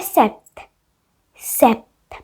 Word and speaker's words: sept: की spelling French में, इसको बोलते हैं सेप्ट, सेप्ट। लिखो SEPT।